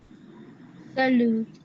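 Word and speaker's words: salut: Salud. Muy bien. Sería salud. La U suena U. U. Salud. La T final no se pronuncia.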